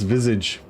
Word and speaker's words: Visage: Okay, it's Visage. So I was right all along.